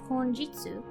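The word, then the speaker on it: 本日: This word is pronounced honjitsu, with the first kanji being hon, which is the same as the hon in Japan, and the second being jitsu rather than ni, as in Japan.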